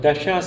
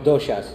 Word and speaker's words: doshas: pronunciation of this, but I've heard dashas also play a role in how... Doshas. So, doshas, okay, I'll go back.